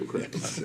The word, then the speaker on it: Krabs: Does his name rhyme with Joe Craps? Yeah. Okay. Joe Krabs. I talked to him a few times about it too. Yes, it does.